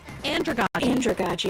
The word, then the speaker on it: andragogy: Andragogy.